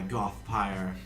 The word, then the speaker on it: Gothpire: So, I shall ask you and your friends, will you join me in my Gothpire vampire empire? Pyre. Yes, it rhymes.